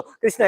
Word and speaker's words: कृष्ण: हाँ, हरे कृष्णा, कोई हरे कृष्णा, हरे कृष्णा, कृष्णा कृष्णा हरे, ऐसा होता है. हरे कृष्णो, हरे कृष्णो, कृष्णो कृष्णो हरे, ऐसा. मतलब सबका अलग अलग प्रोनाउंसिएशन, ऐसा नहीं.